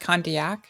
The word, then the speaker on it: Condillac: It's pronounced Condillac.